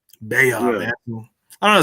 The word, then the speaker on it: Baha: Sometimes I even get it mispronounced sometimes, but now I know it's Beha, not Baha. Well, I mean, it's an Arabic name, so it might be Baha, but it's I've always went as Beha. Beha, Yeah, man.